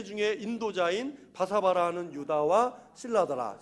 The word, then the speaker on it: 실라: 실라, 같은 동일한 인물인데 실로아노는 로마에서 사용하는 라틴어식으로 실로아노라고 읽고 헬라어로는 실라 이렇게 읽습니다.